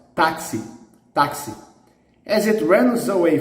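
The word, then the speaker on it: táxi: last syllable the stress the stress here is in the penultimate so it's an exception taxi okay the word virus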